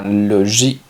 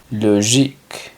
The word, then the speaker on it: logique: sería astronómico astronomic lógico se pronunciaría logic logic práctico sería sin la